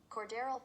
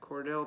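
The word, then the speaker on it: Cordarrelle: Alvin Kamara went for 50, and I always forget how to pronounce this. I think it's hold up. Cordell. No, wait. Hold up. Cordero Patterson. Cordero. Okay, Cordell Patterson.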